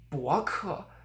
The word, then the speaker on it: 博客: 博客, it's not 博客, 博客, de-stressing it, but 博客, fully pronouncing the fourth tone on 客.